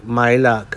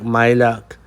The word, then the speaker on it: Majlak: for the second name m a j l a k you don't mention the j at all so it sounds like i so my my luck i think that's how we pronounce it i don't know where